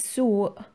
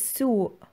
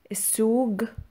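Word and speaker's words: سوق: and let's get started market is soo is sooo this can also be pronounced as sook sook or sook sook this will depend on where the speaker comes from supermarket or grocery shop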